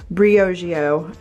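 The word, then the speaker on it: Briogeo: This is from, you guys told me how to pronounce it correctly, Brioggio.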